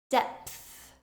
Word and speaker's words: depth: blowing out F clothes depth this word has a p before the th sound dep depth if you